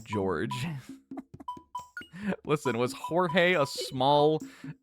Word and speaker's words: Jorge: Went to a school with a guy named Jorge, and do you know how he pronounced his name? George.